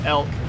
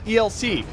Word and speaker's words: ELC: to take out the elk uh and some of you are like it's called the elc guess what in the military we actually pronounce acronyms as words so yeah that's a